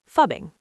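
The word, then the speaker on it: phubbing: It's fubbing. Yes, let's spell it. P H U B I N G. Fubbing.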